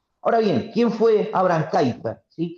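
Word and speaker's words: Kuyper: Ahora bien, ¿quién fue Abram Kaiper? Sí, que se pronuncia Kiper, se escribe Kuiper.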